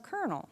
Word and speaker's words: colonel: the French language and for some reason the French changed the medial L to an R and they called that person a colonel right and then when they